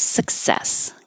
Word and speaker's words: success: Glorious success. Glorious success. You do say suck, your tongue goes to the back, but you don't have to hear the K suck. Says success. Glorious success.